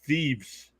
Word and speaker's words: Theifs: The guy I sub his name is Thieves, but it's spelled Theifs.